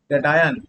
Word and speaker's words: cation: इसका उच्चारण जैसे करना वैसे करना, केटायन, इसका प्रोनाउंसिएशन ऐसा ही होता है केटायन, है ना।